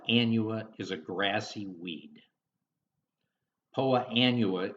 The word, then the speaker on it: Poa annua: Poa annua is the technical name of the weed, but you will often hear it pronounced as poana.